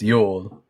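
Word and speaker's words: Jul: The J is pronounced like a Y in those Scandinavian um um languages, so it's pronounced Yol.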